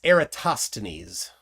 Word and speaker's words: Eratosthenes: to Pythagoras uh and it's eratosthenes is the way it's typically pronounced um oh yeah yeah